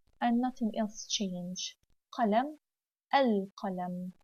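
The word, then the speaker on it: القلم: Qalam, al-qalam. Could you hear the sound of noon? It wasn't here. I said assa, but here al-qalam.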